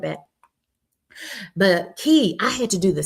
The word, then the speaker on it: Key: And she says it's pronounced key like a key.